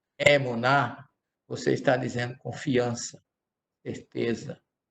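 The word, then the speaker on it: אמונה: Fé em hebraico é uma palavra que se escreve emuná. Emuná. Se diz emuná erudite, fé judaica. A fé, ela é uma expressão que ela pode ser entendida como emuná ou imuná, porque o radical é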